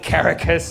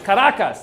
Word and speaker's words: Caracas: He calls it Caracas. It's like, it's Caracas, dude.